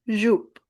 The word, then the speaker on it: jupe: E is silent at the end, so it is jupe.